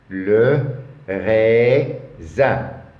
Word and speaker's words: raisin: Le raisin. Ici, S, entre deux voyelles, il se prononce Z.